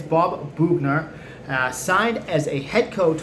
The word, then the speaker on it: Boughner: I know I always pronounce things wrong, but it's Bob Boughner.